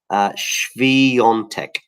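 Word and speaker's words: Świątek: And somebody there looking very upset with my pronunciation of Swiatek. Swiatek.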